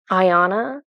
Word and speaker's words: Iana: i a n a pretty much like the word Diana but without the D except they were pronouncing it different they're pronouncing it um Ayanna okay I think that's right Ayanna so she's holding this